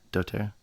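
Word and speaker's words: dōTERRA: doTerra?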